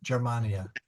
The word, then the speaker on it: Germania: this is soft. It's in front of an E, Germania. Okay, Gemma Celestis, not Gemma Celestis.